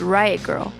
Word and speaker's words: Riot Grrrl: The movement came to be called Riot Grrrl. That's girl spelled with no I and 3 R's. It's meant to be pronounced with a sort of growl.